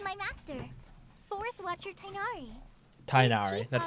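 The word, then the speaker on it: Tighnari: Tainari, Chief that's how you officer pronounce it.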